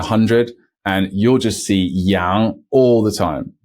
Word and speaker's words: yang: which means goodbye say next up we have Yang Yang another one that trips people up if they don't have proper pronunciation training because this is now going back